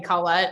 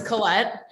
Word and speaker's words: Colette: you'll laugh my husband has always called me collette and it wasn't until my brother told him that's not how you say her name i'm just people pronouncing it wrong so it's colette but you can pronounce it however you feel